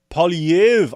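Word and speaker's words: Poilievre: opposition leader conservative Pierre PV I had actually had to find a place that pronounce his name I'm still getting it wrong but apparently they don't pronounce the r at the end uh don't know why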